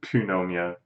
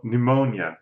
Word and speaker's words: pneumonia: praise my own medical knowledge but I totally mispronounced it I saw the word in my head and I said Pannonia pneumo pneumonia pneumonia a cold beyond a call a major